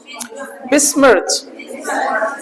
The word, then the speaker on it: besmirch: बिस्मर्च, बेस्मर्च, बेस्मर्च, बेस्मर्च। बेस्मर्च का मतलब क्या? वैसे इसका प्रोनाउंसिएशन में टी और ऐसे करके इसको च प्रोनाउंसिएट किया जाता है।